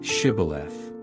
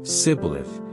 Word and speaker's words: Shibboleth: If he replied, "No," they said, "All right, say Shibboleth." He said, "Sibboleth," because he could not pronounce the word correctly.